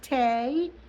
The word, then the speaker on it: te: or cha So, te t e pronounced tay is still used in Fujian.